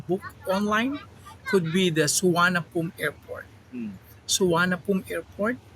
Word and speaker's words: Suvarnabhumi: Suvarnabhumi Airport, or in when you say it in English, you can read as Suvarnabhumi, Hmm. but in Thailand they say it Suvarnabhumi. Okay. Yeah, so they have silent letters when they say the word exactly by their local dialect instead of reading it in English.